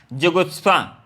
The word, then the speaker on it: जुगुप्सा: विभत्स का होता है, इसका थोड़ा प्रोनाउंसिएशन गलत करें, उच्चारण थोड़ा हम लोग नहीं कर पाते हैं क्या। तो जुगुप्सा इसको हम लोग बोलते हैं, थोड़ा उच्चारण में क्या होता है, कठिन होता है, तो ऐसे होता है जुगुप्सा।